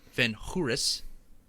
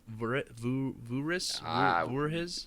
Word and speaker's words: Voorhis: Van Hooris. I'm sure I'm pronouncing that incorrectly. 100%. Yeah, it's either Voorhuis or Van Voorhees. It's VANVOORHIS. So Voorhees.